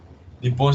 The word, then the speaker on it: Nippon: Nippon se escribe con doble P. Nippon.